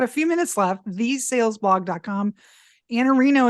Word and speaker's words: Iannarino: Iannarino is how you pronounce it, but your Twitter is IANNARINO.